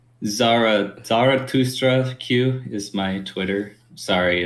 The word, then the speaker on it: Zarathustra Q: Zarathustra Q is my Twitter. Sorry, it's spell it just how it sounds, pretty much. It's like thus, but Thustra is how it's pronounced.